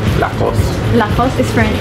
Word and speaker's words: Lacoste: Lacoste. Yes. So no E in the end. No. Lacoste. Remember? Lacoste. Or if you want to say it with like a little bit of a French accent, Lacoste.